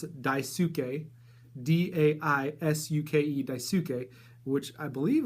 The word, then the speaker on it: Daisuke: I believe that's how you pronounce it, Daisuke, D-A-I-S-U-K-E, Daisuke, which I believe last issue would have been his first appearance then.